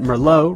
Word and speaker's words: Merlot: Remember that Merlot rhymes with Sloppy Joe.